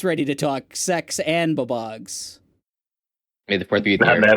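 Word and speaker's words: BOBOG: Oh, it's Babog, baby. Bab.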